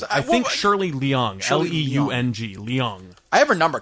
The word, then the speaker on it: Leung: think either of us still know how to pronounce her last name. up cuz I I think Shirley Leung, l e u n g, Leung.